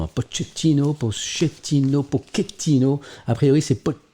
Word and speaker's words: Pochettino: Alors, il y a un débat sur sa prononciation, hein, Pochettino. A priori, c'est Pochettino qui prend la corde puisqu'il est argentin.